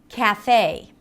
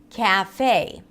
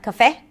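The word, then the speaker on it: café: Cafe. Same thing. Cafe. Not cafe, but in American English. Cafe. Right? So you drag it.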